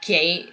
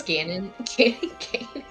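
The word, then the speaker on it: Ganon: because said Gannon maze he said gay like gaining mate and I'm like dude it's Gannon getting games yeah I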